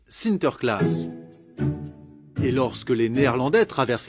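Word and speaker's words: Sinterklaas: des cadeaux aux enfants aux pays bas saint nicolas se prononcent sinter klaas et lorsque les néerlandais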